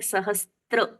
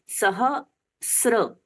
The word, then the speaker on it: सहस्र: अब ये सहस्र को हम बोलते हैं सहस्त्र, सह अस्त्र, ऐसा ये शब्द नहीं है। सहस्र, सह के साथ में है स और र, बीच में त का उच्चारण नहीं है, तो इसको हमें पहले ही सुधार लेना है।